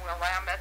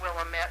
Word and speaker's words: Willamette: of jot this down willamette is you know not willamette river and things like that and uh and it was the year of the centennial of oregon like 18 1959.